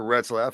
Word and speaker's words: Retzlaff: Retzlaff. There you go. Yeah, Retzlaff. I would say that's how you pronounce that. Parker Retzlaff.